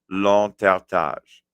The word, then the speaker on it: l'entartage: proper pronunciation, it's l'entertage. L'entertage.